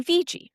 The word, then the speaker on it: Vigie: So, I told you my actual name, but I go by VG. That's what just said like exactly like the letters V and G, though that's not how it's spelled.